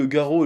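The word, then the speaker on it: Garou: Bon, apparemment, ça se prononce Garo, je savais pas trop.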